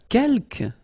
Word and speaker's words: quelques: Quelques, you don't pronounce the final S here. Quelques means few, okay?